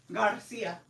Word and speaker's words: Garcia: are pissing me off no it's G Garcia you know what's crazy